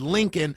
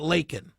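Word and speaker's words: Laken: Oh, he pronounced it Lincoln. I'm sorry. Let's go off on that for the next 5 days. Because he said Lincoln and not Lakin.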